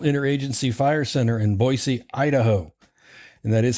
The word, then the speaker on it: Boise: wildfires the national inter agency fire Center in boisey Idaho and that is how you say it